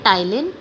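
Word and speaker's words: ptyalin: अब इसके बीच में एंजाइम होता है टाइलिन, सो पी is silent here, टाइलिन और सलाइवरी एमाइलेज।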